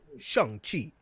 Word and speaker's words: Shang-Chi: It's like, no, Shang-Chi. Hilarious, Shang-Chi. It's like Sean.